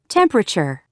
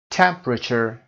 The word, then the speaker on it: temperature: Temperature. 10. Sophomore. که کلمه اول favorite نوشته میشه و اما او تلفظ نمیشه، بنابراین این سیلاب ما بدون صدا هست.